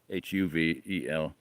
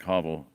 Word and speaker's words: hovel: The word hovel, Hovel, it's supposed to say like hovel, Huvel, but it looks like hovel. And Kipling makes it rhyme with novel, so I would say a peddler from a hovel, the lowest of the